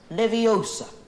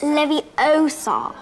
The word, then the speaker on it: Leviosa: someone's eye out besides you're saying it wrong it's leviosa not leviosa you doing then if